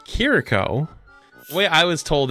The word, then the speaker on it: Kiriko: I was told that you say it is kiriko kiriko instead of here Rico or heriko right like that's like the Americanized way but it's like kitty is how you're supposed to say it like kiriko apparently so that's apparently how